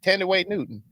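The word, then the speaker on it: Thandiwe Newton: T way yeah I did say it right tenday Newton I did you didn't say that the first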